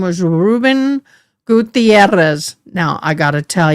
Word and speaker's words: Gutierrez: And grandma did I She goes, "You got to learn how to say it right. Gutierrez." And I couldn't roll my Rs.